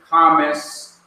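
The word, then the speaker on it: Qamats: And this long vowel is called Kames A. It is a long sound. Like you discovered something. Or you're surprised by something. Okay, so this is as in yard.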